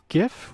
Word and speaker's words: GIF: How do I pronounce GIF with a hard G?